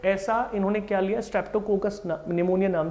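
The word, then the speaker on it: pneumonia: निमोनिया P silent होता है, निमोनिया लिया उन्होंने, और नाम क्या था?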